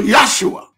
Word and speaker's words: Yeshua: all this petty stuff Yeshua Joshua in the Hebrew tongue the J is often pronounced yes okay so yua not Joshua in English is Joshua but in Hebrew is yosua okay I'm not Hebrew